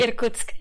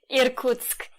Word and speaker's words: Irkutsk: Irkutsk. So how do you say that? Irkutsk. Irkutsk.